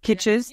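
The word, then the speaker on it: Kitces: who we all love is it kites I'm going to say his name wrong Michael KES KES there we go we all yeah you if you don't know who he is please Google him his C is spelled kit tcees he is the Godfather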